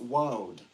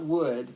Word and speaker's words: oud: about it, and that it is pronounced woad, and it is Arabic. So it's woad, not wood, but it's W, like